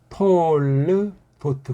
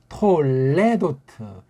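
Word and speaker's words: תּוֹלְדֹת: 톨르도트 그렇게 읽으면 돼요. 어떤 사람은 톨레도트 이 밑에 점 아래에 두 개 박은 건 이건 불분명한 발음이다.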